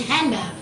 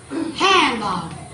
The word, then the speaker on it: handbag: For example, most American English speakers do not pronounce the D in handbag.